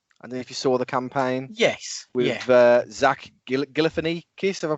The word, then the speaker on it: Galifianakis: With Zach Galifianakis, have I pronounced that right? Galifianakis, yeah.